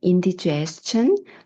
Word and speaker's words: indigestion: Indigestion. 예. 소화 분량이라는 명사죠. 같이 해 보실까요? indigestion. 네. Ti으로 끝나는 명사. 그 앞에 있는 모음인 이의 강세가 있습니다.